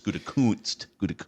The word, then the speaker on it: Gutekunst: Got to be careful the way you pronounce that with the FCC lurking over ESPN Milwaukee. It's Gutekunst.